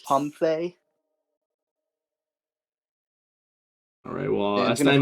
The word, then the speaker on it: Comfey: a nice and shiny comfy And that Artisan is going to grab us a nice and shiny Pidgey next turn, which is pretty nice. Actually, it's pronounced Comfey.